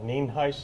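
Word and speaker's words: Nienhuis: again for your records it's uh Sheriff Neen Heist it's spelled n-i-e-n-h-u-i-s and it's pronounced Neen heis and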